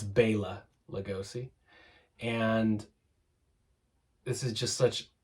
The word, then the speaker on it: Bela Lugosi: It always pisses me off when people pronounce it Bela Lugosi. The only time I say Bela Lugosi is when I'm singing along with Bauhaus. It's Bela Lugosi.